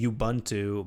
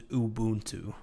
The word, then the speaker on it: Ubuntu: I used to say Ubuntu, but apparently you that dude. Apparently the proper way to say it is Ubuntu.